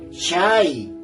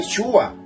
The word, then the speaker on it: Shai: Entonces, ¿cómo suena? Shai. Ahí dice Shai. Ahí no dice Shua. Por favor, los que pronuncian Shua, despierten. Eso es para ustedes, abran los ojos. Despiértense, por favor. Ahí no dice Shua. Jamás en la vida dice Shua.